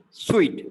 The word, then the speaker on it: suite: we got sweet so that hotel room it is sweet it's not soup some people would say that we pronounce that sugar sweet as well so why it is pronounced as sweet so these are like